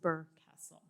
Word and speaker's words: Burr Castle: to be bur Castle I actually had to look up how to say Burr because I wasn't sure sometimes these um Celtic names can be pronounced in interesting ways like my last name so I had to look it up so but it's pronounced Burr Castle all right and our